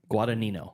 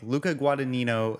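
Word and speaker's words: Guadagnino: gued guo guad guo the second g is silent guad guadino guadino okay L yeah okay Luca guadino uh he's set to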